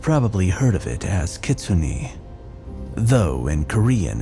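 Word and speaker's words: kitsune: in Japanese you've probably heard of it as kitsun though in Korean it's pronounced kumiho what I was sent prior to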